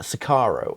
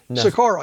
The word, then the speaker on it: Socorro: the alien contact at, I'm going to pronounce this right, at Sakaro, I think it says. Socorro, yes.